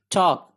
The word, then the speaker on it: talk: TALK टॉक, L silent है टॉक, टॉक गुफ्तगू करना बात करना।